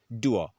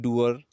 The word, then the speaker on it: dour: आपने देखा होगा ब्रैकेट में R लिखा हुआ है, र. ये प्रोनाउंस नहीं होता है ब्रिटिश इंग्लिश प्रोनाउंसिएशंस में. अमेरिकन में हो सकता है, इसको अमेरिकन इंग्लिश में हम इसको प्रोनाउंस करते हैं डूअर, बोल सकते हैं इसको डूअर.